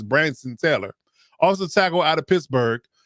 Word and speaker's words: Branson: in the sixth round, I believe it's uh Branson Taylor is how you pronounce his first name. Uh some people call him Brandon, but it's Branson Taylor.